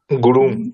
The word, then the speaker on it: গুরু: ভগবান গুরু গুরু, গুরু দীর্ঘ, তাহলে উচ্চারণটাও দীর্ঘ করতে হবে, গুরু।